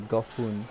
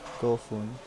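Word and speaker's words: 五分: or B-U-N, or P-U-N, it's pronounced differently, depending on the number, so 5 would be Gofun, Gofun, 5 minutes.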